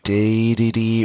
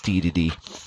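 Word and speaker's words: Dedede: we got a castle which is probably deity or day to day or if you've got a third pronunciation you're still also wrong because it's DDD calling it here now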